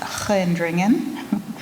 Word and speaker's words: Gendringen: They bring them to nearby Gendringen, which begins with the letter G, so it's pronounced Gendringen.